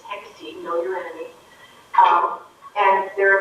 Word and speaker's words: Hecate: So county was there, county council was there, it's Hecate, so we all need to learn to pronounce this properly. It's Hecate, know your enemy.